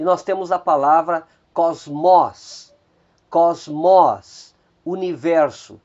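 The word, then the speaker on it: κόσμος: E por fim nós temos mais 3 palavras cujo acento está recaindo na antepenúltima sílaba. Nós temos a palavra diáconos, diáconos, diácono. Nós temos a palavra mysterion, mistério. E nós temos aí a palavra Kyrios, Kyrios, Senhor.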